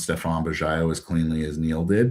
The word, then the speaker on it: Stephan Bajaio: So I know y'all won't pronounce Stephan Bajaio as cleanly as Neil did, but I'm sure he'll put a link to my LinkedIn.